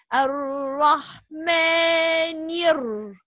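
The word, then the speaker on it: الرحمن: So here we said Ar-Rahmani. We didn't pronounce the lam because this is lam shamsiyya.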